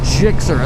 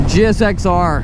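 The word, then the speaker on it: GSX-R: I don't know why everyone wants to call it a Gixxer. It's not even phonetically how it would be pronounced. It's a GSXR.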